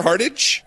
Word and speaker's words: Hardage: fantastic television and we've got with us Adam hard-hard age I gotta say our heart age as I say your name ricer hearted that's correct all right I said it right